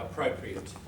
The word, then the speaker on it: appropriate: Good, yeah, appropriate. There is a little bit of pronunciation point there. So, appropriate adjective, appropriate. Hear that schwa?